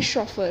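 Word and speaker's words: chauffeur: इसे हम कहते हैं शॉफर। शॉफर या फिर ड्राइवर। शॉफर आप प्रोनाउंसिएशन से देख सकते हैं, थोड़ा सा अलग है स्पेलिंग से, बट मीनिंग इसका यही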